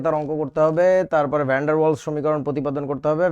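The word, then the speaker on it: van der Waals: ভ্যান্ডার ওয়ালস শব্দটা এরকম, ভ্যান ডার ওয়ালস আলাদা শব্দ, ইংরেজিতে বানানটা হচ্ছে ভ্যান ডার ওয়ালস, WAALS। এটাকে আমাদের বইতে লেখে ভ্যান্ডার ভ্যান্ডার ওয়ালস। এটা ঠিক না, একজন বিজ্ঞানীর নাম, যথেষ্ট সম্মান করে বলা উচিত।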